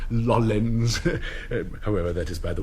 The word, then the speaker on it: Lawrence: Orens, the Arabs called him, for they are unable to pronounce their L's, as distinct from the Chinese who can pronounce little else. It is interesting, though fruitless, to speculate that had fate taken him to China, he would have been known as Lollens.